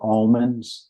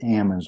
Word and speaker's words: almonds: Growers some pronounce it Alman some pronounce it Ammons with a silent L and I told him what I do with people because I say Ammons with a silent L